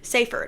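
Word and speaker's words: Seyfried: her Amanda say saer safer I think that's how you pronounce it but it's it's it's like spelled sea fried but it's not James Marsen who is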